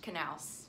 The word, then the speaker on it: Canales: yet to watch Russell Canales who has also played a bit for the men's national team but didn't waste any time getting his plan B together for his post MLS career it's pronounced canals now you know Steve